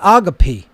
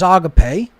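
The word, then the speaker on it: ἀγάπη: agape you don't say agape you wouldn't say thalima it's the lemur the ada is a long a sound in classical greek that's not in question so the correct pronunciation is agape just like the correct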